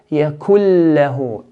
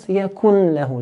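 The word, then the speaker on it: يَكُن لَّهُۥ: So here, yakul lahu, and not yakun lahu. Do not pronounce the nun, but completely take it out.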